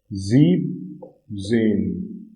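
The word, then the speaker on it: siebzehn: Again for 17 it is 17. Again star mark because EN here is removed in this 17.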